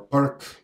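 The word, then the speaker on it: Pirc: to go with uh Pierce defense or perk I mean the name of the guy is built but if you are English-speaking then you pronounce this perk so he played pitch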